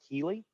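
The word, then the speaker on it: Kele: On a national level, we have Kelly, K-E-L-E. Some people pronounce it Keeley.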